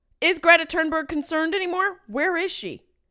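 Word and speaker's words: Thunberg: wondered for months where where is Greta turnberg I think that's how you say it my instinct is to say thurberg but that feels very wrong you know when you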